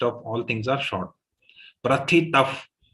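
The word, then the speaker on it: प्रथितः: Prathitah. Not pratitah. Okay. Normally pratitah. Mix happens between second and third letter. Remember, prathitah.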